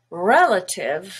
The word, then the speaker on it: relative: Relative has a stress on the E, the first syllable, which is red. Relative. But the A and the I here are also schwa.